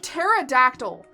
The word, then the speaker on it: pterodactyl: the x is silent or like pterodactyl pterodactyl why the is there a p why the is there a p that's not pronounced welcome to the English